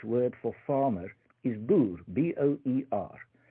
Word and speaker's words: boer: Now the Dutch word for farmer is boer, B-O-E-R. And they couldn't pronounce that soft R at the end at all. And so they replaced it, instead of saying boer, they said bulu.